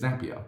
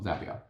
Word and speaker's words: Zapier: the site that said zapier makes you happier and i guess that